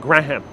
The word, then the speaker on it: Graham: Like Graham. A lot of the Puerto Rican and other residents, Italian Americans and a few others that grew up here pronounce it Graham.